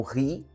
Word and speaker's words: he: O H, no começo das palavras, no inglês, quando ele é pronunciado, ele vai fazer o som que a gente conhece como dois Rs.